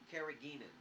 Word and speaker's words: carrageenan: It's pronounced carrageenan.